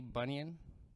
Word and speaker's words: bunion: a y y-o-n bunion but this is b-u-n-i-o-n like an onion with a b well that would be